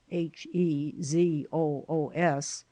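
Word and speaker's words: Jesús: shocked to hear that his name was Jesus pronounced in Spanish Jesus h e z o oos by which latter appellation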